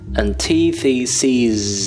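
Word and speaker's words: antitheses: Another thing you should pay attention to the word antithesis is that when it is plural, it is pronounced as antithesis. It is a long sound.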